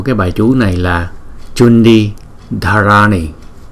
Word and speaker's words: Cundī: Phần kế tiếp là phần tiếng Phạn, và cái tựa đề của cái bài chú này là Chundi Dharani. Chữ C chúng ta đọc là Cha, Chundi Dharani.